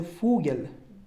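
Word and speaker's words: Vogel: او به معنای ساعت فاو فاو مثل فوگل به معنای پرنده و وی و نیست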